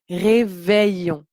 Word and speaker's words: réveillon: an le réveillon réveillon donc quand il ya ni deux elle on prononce réveillon le réveillon du nouvel